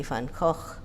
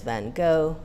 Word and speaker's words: Van Gogh: take his you know try to pronounce his name in German it's usually Van Gogh. In English, American English, I understand it's van Gogh. In UK English van Gogh or some version of UK English. The Dutch original is of course van Gogh, both velar fricatives.